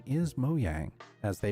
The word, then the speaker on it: Mojang: Most people call this the Mojang logo, but the correct pronunciation is Mojang, as they pronounce it themselves.